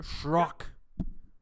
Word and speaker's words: Shrok: The pronounce to, if you want to let it die down, the pronunciation should be Shrok.